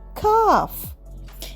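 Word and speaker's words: calf: দাও নেক্সট যাই সি এফ কাফ এখানে এল সাইলেন্ট কাফ মানে হল বাছুর বা ছোট গরু কাফ ড্রিংকিং মিলক বাছরটি দুধ খাচ্ছে।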